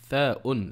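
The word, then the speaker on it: ث: Le tha se prononce avec la langue entre les dents du haut et du bas.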